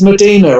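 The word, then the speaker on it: Mdina: well yeah it's it's it's it's medina i i thought it was spelled with an e but it's a place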